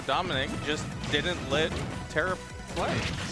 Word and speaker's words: Domnique: Or have you been saying it, Dominique? No, there's no I in between the M and the N. It's Domnique. Domnique.